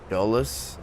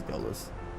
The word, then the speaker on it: Dulles: How do you pronounce that? Dulles. I think it's Dulles.